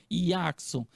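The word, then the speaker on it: Jackson: É assim, Iackson, que se pronuncia o seu nome, Iackson.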